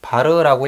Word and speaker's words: var: 와트 라고 표시를 하구요 무효전력 은 var 바르라고 읽어요 그렇게 표현을 해 주시면